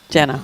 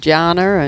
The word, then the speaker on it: Jenna: Poor old Jenna. People get her name wrong so many times. Jenna Dominics. That's as spelt really. Yeah. Little wide there, Matt. I've heard her called Janna and Janna. She said she just rolls her eyes.